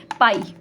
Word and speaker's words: PAI: আমি এটাকে PAI বলছিলাম, বাট দেখলাম এটার অ্যাকচুয়ালি প্রোনাউন্সিয়েশনটা হচ্ছে পাই, যেরকম আমরা সে ম্যাথস করার সময় বলতাম না পাই, সেটার নাম হচ্ছে পাই।